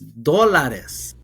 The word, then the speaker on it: dólares: I'm saying it wrong. It's dólares.